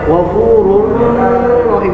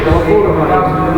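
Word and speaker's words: غفور رحيم: Cara membacanya itu dengan tanpa didengung. Kalau tadi pertama dengan menggunakan dengung, yang kedua tanpa dengung. Contoh ghafurur rahim. Jadi nggak boleh ghafurur rahim, nggak boleh. Jadi ghafurur rahim.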